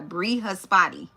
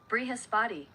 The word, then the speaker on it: Brihaspati: Brihaspati. Brihaspati. Brihaspati. Okay? The Brihaspati. Okay? It says, I bow down to Brihaspati, the god of the planet Jupiter.